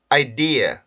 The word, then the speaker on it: idea: 개의 만 말씀을 드릴게요 학생들이 가장 많이 이제 실수 라는 부분이 요기 이제 아이디어 라는 단어가 나오면 첫번째 은 절의 대부분 강세를 주려는 경우들이 있어요 그래서 아이디어 이렇게 하는